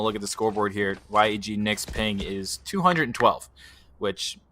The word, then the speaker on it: YEG: yeg nick message us the proper way to say why eg or yeg no it was it was sent to us it is yeg that is the uh edmonton airport code believe it or not